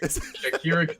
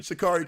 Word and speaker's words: Shikari: Shakira Khan. Shikari Khan, yeah. If I say it wrong, I think I'm talking about Shakira.